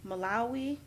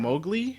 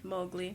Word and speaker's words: Mowgli: The only thing I have heard of is Malawi, The little Jungle Book boy. I'm pronouncing. Oh, that wrong. Mowgli. Mowgli.